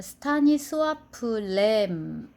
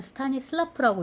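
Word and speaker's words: Stanisław: 2장의 마지막을 장식하는 작가는 스타니스와프 램입니다. 저는 스타니슬라프라고 읽고 싶어지는데 그 폴란드 작가더라고요.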